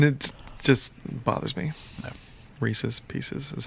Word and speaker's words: Reese's Pieces: She said Reese Pieces, and I was like, no. How do you say this? Reese's? How do you say this? Pieces? How do you say this? Together? Reese's Pieces. Yeah. Or they say like Reese Pieces, and I'm like, Reese's. There's an apostrophe S in there.